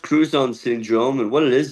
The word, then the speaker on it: Crouzon: Ben, uh, you have Krzanne syndrome. Can you explain what that means? Yeah. Uh, it's pronounced cruzone syndrome and what it is is a facial difference.